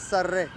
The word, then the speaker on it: Sarah: And by the way, the name Sarah, it's not the way you pronounce it. It's Sarre.